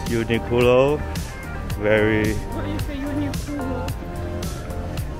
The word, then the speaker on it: Uniqlo: What is a Uniqlo? This is how Japanese say. What? Uniqlo. Q, they pronounce ku.